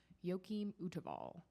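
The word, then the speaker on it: Joachim Wtewael: And it was for this exhibition titled Pleasure and Piety, the Art of Joachim Uteval. And that is a terrifying name to pronounce. But that's how you do it.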